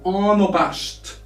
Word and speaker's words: unabashed: Moving now to unabashed. Unabashed. So we spell A here as O.